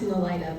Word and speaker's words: Nelita: actually pronounced Nelita, but you got the last name right, a lot of people don't.